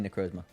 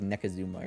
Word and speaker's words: Necrozma: Well, I mean, it is actually Necrozma. But you pronounce it like Nekazuma or something like that.